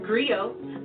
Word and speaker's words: griot: share the history with you agree oh it's pronounced griot or in English agree on the West African